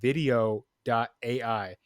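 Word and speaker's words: Vidyo.ai: so one of them is called video dot AI but it's spelled v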